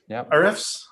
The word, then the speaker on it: Ahrefs: Ahrefs. Yeah, it's a interesting name. So I decided on Moz because I can pronounce it.